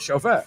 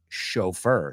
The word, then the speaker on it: chauffeur: Aunque se pronuncia chaperone, aunque es una CH, chaperone and chauffeur. Son dos de nuestras CHs como chef, como Chicago, como Michigan, que realmente no son CH, son SH.